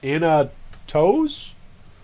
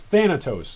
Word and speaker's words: Thanatos: an update for his its Thanatos not Anna toes where is he here